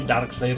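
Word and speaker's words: Darkseid: A pesar de que está escrito diferente, la pronunciación del nombre es idéntica a como se pronuncia el dado oscuro en inglés, porque eso es lo que Darkside representa, todo lo que es el lado oscuro de la naturaleza humana.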